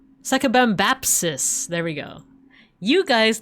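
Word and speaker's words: Sakabambaspis: Sakabambapsis.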